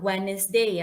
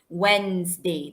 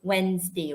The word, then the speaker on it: Wednesday: Not Wednesday, class. It's Wednesday. That is how you should pronounce the day, Wednesday, okay?